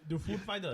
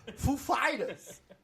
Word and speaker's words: Foo Fighters: Where's the accent or whatever? Is it on the Foo or the Fighters? Yeah. The food fighters. You put the emphasis on the wrong syllable. Foo Fighters. That's the best. Ladies and gentlemen, the Foo Fighters. Girl, which one is it, girl? It's on the Fighters.